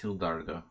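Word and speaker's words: Gildardo: Gilda Garcia I remember I should say he'll dart though because he's Colombian it's pronounced he'll Dargo but he'll Dargo he'll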